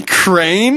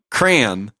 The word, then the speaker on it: crayon: I don't say crane. That's how you're saying it. What? Crayon. What do you say? Oh my gosh. Crayon. Crayon? Yes, it's a crayon. A crayon. Yes. Dude, it's a one-syllable word.